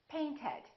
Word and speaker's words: painted: Paint ends with a T. Therefore, the past tense is painted.